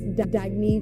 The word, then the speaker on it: Dagne: good you can live life intentionally oh it's pronounced dagney do dagy means new dawn it's a new